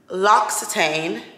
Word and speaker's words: L'Occitane: Y'all, L'Occitane, I believe that's how you pronounce it.